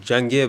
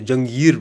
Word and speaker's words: Jahngir: You said Jahngir, bro. It's Jahngir, bro. There's so many different ways you can pronounce it, man.